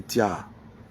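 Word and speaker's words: Tiaha: chocou un un village lagunaire plus précisément appelé TIA. qui s'écrit t I a h a est inconsolable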